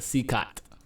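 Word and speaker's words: CECOT: El Salvador which was okay that's how you pronounce it seot constructed to imprison the highest profile criminals those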